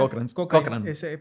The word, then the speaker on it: Cochrane: Platícame de Cochrane. ¿Cómo se pronuncia? Cochrane.